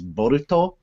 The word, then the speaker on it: Boruto: pronounced in Japanese is boruto so it's kind of like Naruto except it starts differently but that's how you